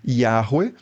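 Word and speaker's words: Yahweh: A reconstrução acadêmica internacional mais convencional hoje é algo como Yahwe ou em português Yahé ou Javé.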